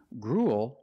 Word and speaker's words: gruel: compare these two words grul is a kind of food it ends with a dark L because the L is after a vowel it's at the end